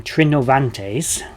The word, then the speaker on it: Trinovantes: out that their name trinovantes which is relatively believed to be how it was actually pronounced with a hard v in the middle of days was similar